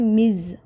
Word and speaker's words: Ms: मिस यूज़ नहीं करेंगे, आप MS वाला वर्ड यूज़ करेंगे जिसको हम हम लोग इस तरह से प्रोनाउंस करते हैं मिज़, ओके मिज़।